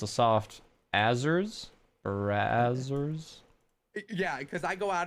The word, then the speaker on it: Brazzers: No, Was not Brazers. AZZ. That's double consonant, which means it's a soft Azers. Brazzers.